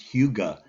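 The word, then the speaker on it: hygge: It's spelled Hyggge, but it's pronounced Huga, Oh, Hugo.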